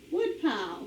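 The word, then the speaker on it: woodpile: what about pile put our accent on the first syllable wood pile all right and shellfish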